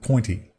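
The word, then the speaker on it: Point-E: isn't great I think you're supposed to pronounce it pointy pointy is it oh that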